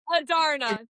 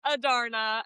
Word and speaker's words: Adarna: Adarna. Adarna.